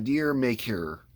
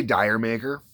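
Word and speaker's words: D'yer Mak'er: Sheryl Crow doing uh deer maker most people say Dyer maker uh the band has said that's not how it's pronounced uh I'm sure what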